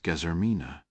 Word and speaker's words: Guillermina: Argentines spoke with a Castilian Spanish accent, which meant they pronounced the name Guillermina as Gezermina.